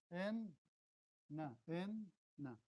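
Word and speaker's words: إنّ: rules are made that the shadda is sukun plus another one. Okay? like an enna, write it an Okay, inna like this, right? But you pronounce the inna like this. In, na, in, na.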